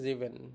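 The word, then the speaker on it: sieben: মত করে উচ্চারণ হবে সেভেন কে বলে হচ্ছে জিভেন এটাও যে এর মত করে উচ্চারণটা হবে জিভেন যে এর মত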